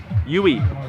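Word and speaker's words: Uy: last name it's pronounced UE like Louie without the L but she competes for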